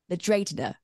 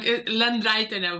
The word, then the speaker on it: Lendraitiene: It's the incredible Ruta Lendraitiene. Did I say it right? I said it wrong? No, it was wrong. Lendraitiene, but it's fine.